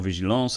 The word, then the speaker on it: vigilance: So that actual example, vigilance and département, those are both cognates, but the children might try to pronounce them in an English way, but of course they want to know the French pronunciation.